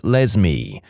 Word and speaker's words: Lesme: My mom is a public school librarian, and the cringiest name she's encountered so far is a girl named Lesme, pronounced like Leslie but with an M.